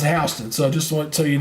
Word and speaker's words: Houston: years ago in the 90s and that is hon County make sure you know that it looks like Houston they pronounced hon so just want so you know uh let's